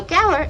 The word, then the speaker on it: Gaur: Now, Gaur is spelled g a u r.